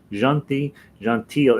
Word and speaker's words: gentil: Alouette, gentil. It looks like gentle on there. Gentil, Alouette, gentil plumerai, and with that re, gentil plumerai, and you want to give some sound to it.